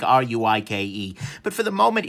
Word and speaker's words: Ruike: Maybe it's going to be the case that they'll get enough market saturation that you can say rake and people will think R-U-I-K-E.